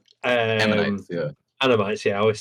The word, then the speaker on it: ammonites: I found animates. Ammonites, yeah.